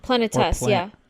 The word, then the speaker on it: Planetes: Planetess, yeah, Planetess. Hell yeah. You gotta pronounce it like that, otherwise people you don't know what they're talking about.